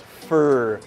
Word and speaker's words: for: Notice when we speak a little faster, the word for kind of becomes fur, just because it rhymes with sure.